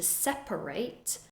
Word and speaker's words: separate: is a tricky one if you're using the word like a verb to separate the pronunciation is different you'll hear that there are three syllables separate separate for example